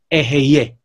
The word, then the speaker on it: Eheieh: Basically, the right way to say it is EHEIEH.